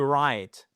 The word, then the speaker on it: write: On oublie, quand vous avez WR in English, I want you to pay attention and to remember that you do not pronounce the W. So, to write, wrote, written, okay?